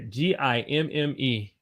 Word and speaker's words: gimme: some money right here g-i-m-m-e give me can you say gimme gimme now of course